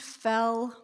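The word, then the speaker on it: Foell: name is fell pronounced fell yes the past tense of fall and i am ballard's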